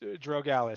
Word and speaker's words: Drogalis: hopefully but uh I'm gonna go with uh dra Alis that's pretty close then uh most most people get the the Tom part right which is lucky uh and it's pronounced drogalis so it's close enough I usually will not